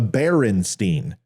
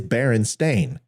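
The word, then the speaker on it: Berenstain: family name as a barenstein but it's actually not it's barenstein b e r n s a i n and it may sound like barenstein bears but it is Baron stain but we all pronounce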